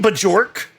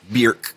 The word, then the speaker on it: Björk: Do you mean Bjork? Björk.